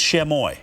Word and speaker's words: Chamois: about so this is chamoy right here Chamois is how you say that the end s is silent as the gentleman told